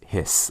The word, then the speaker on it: His: And even though it's spelled H-I-S, you don't say his, it's hiss, almost like what a snake does.